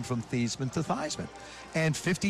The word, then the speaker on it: Theismann: look i'll explain later just tell me how to pronounce our last name he said thiesman hung up the phone